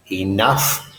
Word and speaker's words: enough: be more than enough enough this gh is a F sound like in Frank F isn't Frank F is in for more than enough and the vowel sound